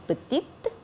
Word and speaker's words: petite: Pour féminin singulier, on ajoute E. Donc, ça se prononce petite.